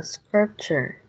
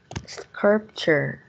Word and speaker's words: sculpture: Scripture. One more time, how do you pronounce it? Sculpture. Okay, that's sculpture. Sculpture. Okay, there's no R on next to you. That's L, that's not R, that's sculpture.